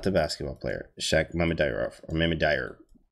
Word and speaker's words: Mamedyarov: I know I was putting an extra syllable in there. I will always do that. Mamedyarov, because somebody says something else. Mamedyarov, yeah, that's right.